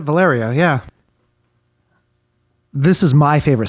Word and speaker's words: Valerio: 10, The Great uh Valyrio. That's how she pronounces it. Valerio.